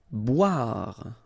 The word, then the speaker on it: boire: Boire. Okay, remember O-I, wa, wa, wa, wa, bois, boire.